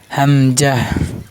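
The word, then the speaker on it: همزة: এটা আইনে মোটা হবে মনে রাখবেন হামজাহ হামজাহ হামজাহ স্বাভাবিক উচ্চারণ হামজাহ কিন্তু জবর যের বেশি হলে শক্ত হবে হামজাহ হামজা এবার ইয়া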